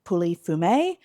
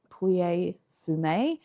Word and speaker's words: Pouilly-Fumé: appellations within l valley puly fume and I think it's actually pou fum but my pronunciation is not great and the other place